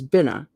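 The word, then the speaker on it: Binah: 3 is Bina.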